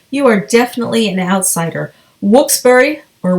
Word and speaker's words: Wilkes-Barre: published in wilkes-barre Pennsylvania however if you say wilkes-barre you are definitely an outsider whoops burry or whoops bear is the correct pronunciation according to my dad who grew up